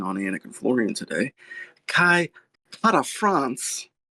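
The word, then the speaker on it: Kai Kara-France: Kai Para France. That's how he says it.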